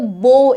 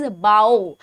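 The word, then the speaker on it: bow: That's what the बो इज. उसको हम कहते हैं बो. ठीक है, एंड द नेक्स्ट इज बाओ. अब इसकी प्रोनाउंसिएशन थोड़ी डिफरेंट है. दैट्स बाओ, एंड फर्स्ट वाला था बो बाओ.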